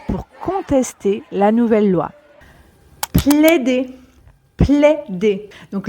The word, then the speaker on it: plaider: Plaider. Plaider. Donc, le AI se prononce comme un E ouvert, comme dans mère.